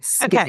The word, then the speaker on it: skibidi: Skibbity. Okay. Skibbity. And it's spelled Skibidi.